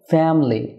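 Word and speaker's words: family: ভুল উচ্চারণ করে থাকি যেমন ফ্যামিলি এটা ফ্যামিলি না হয়ে হবে ফ্যামিলি অর্থাৎ থ্রি সিলেবল না হয়ে টু সিলেবল হবে তাই এখানে ফ্যামিলি হবে ফ্যামিলি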